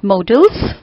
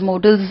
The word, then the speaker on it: modals: tell you here that generally students pronounce this word wrongly as modals. But if it is modals, तो D के बाद में double A होना चाहिए. So the correct pronunciation is modals.